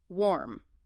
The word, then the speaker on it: warm: Warm. Back to this one. One syllable, lips start rounded like o. Clear r sound.